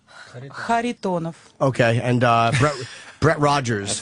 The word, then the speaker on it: Kharitonov: Kharitonov. Okay, and Brett Rogers. That's finally a name we can pronounce.